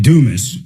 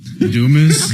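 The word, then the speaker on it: Dumass: Well, I they pronounce it Dumis. Dumis.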